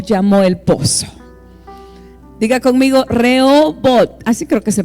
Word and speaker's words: Rehobot: Con la H es muda. ¿Cómo se pronuncia? Re, ahorita lo van a poner. Reobot, porque no lleva en inglés. Si lo pronunciamos en inglés sería diferente, ¿verdad?